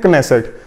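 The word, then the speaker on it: Knesset: यहां पे के साइलेंट नहीं है तो इसको बोलते हैं क्नेसेट, और इसके 120 मेंबर्स होते हैं।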